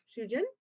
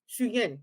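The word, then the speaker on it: Suyin: I can see the main when Shujin, So is that yeah. how you pronounce it? Shuyin, thank you.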